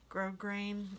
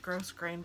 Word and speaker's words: grosgrain: it's called gross green grosgrain I don't know how to say it it looks like grosgrain but I've heard people say it's grosgrain but then I've heard other people say no no it's grosgrain so I don't know